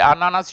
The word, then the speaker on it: ananas: You don't pronounce the S, je mange des kiwis. But the ananas, you pronounce the S.